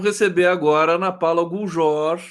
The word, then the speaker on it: Guljor: Vamos receber agora a Ana Paula Guljor. É assim que se pronuncia seu sobrenome, está correto? Guljor? Exatamente, É.